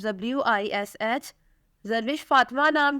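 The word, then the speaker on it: Zarwish: एच, जारविश Fatima.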